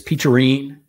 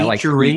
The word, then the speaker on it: Peacherine: Yeah, Peacherine? Like peach. Peach, E-R-I-N-E.